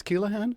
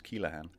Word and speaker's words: Keleghan: to correct them no that is the correct way of saying it's Kahan yeah come on if you were to pronounce it correctly if you pronounce it the the way the Irish pronounce it it's Kahan how do you pronounce